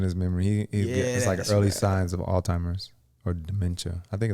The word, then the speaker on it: Alzheimer's: how you say it i think it's alzheimer's oh alzheimer's alzheimer's yeah okay yeah it is i'm sorry i was